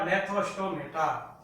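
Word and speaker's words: Gnathostomata: Craniata को दो प्रभाग में डिवाइड किया, एक एगनेथा और दूसरा नेथोस्टोमेटा, या जी साइलेंट है स्टूडेंट। एगनेथा, पहला है एगनेथा, ए का मतलब एब्सेंट और नेथा, GNATH, नेथा। नेथा का अर्थ है जबड़े या जा।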